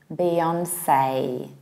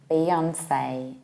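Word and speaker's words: Beyoncé: We have final E that we pronounce like A. Hence we say Beyonce, Beyonce. And the stress is put on Beyonce exactly the same way as we do in fiancé, fiancé.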